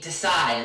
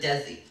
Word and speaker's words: Desi: Like they called me Desai instead of Desi.